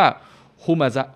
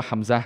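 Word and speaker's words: همزة: มาซะ คือ ถ้า คือ อย่า ไป อ่าน ว่า อัล ฮัมซะ นะ พี่ น้อง มัน อาจ จะ มี อักษร ที่ คล้าย ๆ กัน แต่ ว่า อ่าน ว่า ฮุ มาซะ ฮุ มาซะ นะ ครับ ไม่ ใช่ อ่าน ว่า ฮัมซะ นะ ครับ ครับ ความ หมาย ก็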